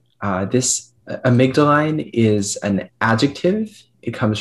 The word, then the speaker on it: amygdaline: Your word is amygdaline. This amygdaline is an adjective.